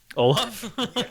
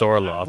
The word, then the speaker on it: Orlok: Olaf?